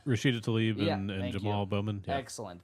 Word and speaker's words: Tlaib: It's Rashida Tlaib and Jamal Bowman.